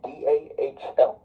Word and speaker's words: Dahl: The music journalist Bill Dahl, D-A-H-L, I think, described, yeah, because, like, it's spelled like Weird Doll.